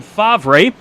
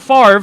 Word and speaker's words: Favre: 22nd, Axel Smith 23rd, Landon Favre. It's not Favre. For anyone that wants to check me on that, that's coming from a lifelong Packers fan. I know how to say his name. It's Favre, so we'll keep that in mind tonight.